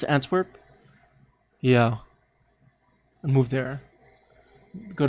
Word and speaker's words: Antwerp: Is that how you pronounce it? Antwerp?